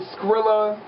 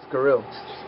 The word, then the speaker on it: Sciryl: no damn it I scills SC scill I heard squirrel before I heard cereal I heard I get cereal I heard squrs I heard scrilla it's scill like why why you